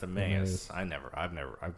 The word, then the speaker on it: Emmaus: switch back pizza company located in Emmaus right is pronounced a Millions I never I've never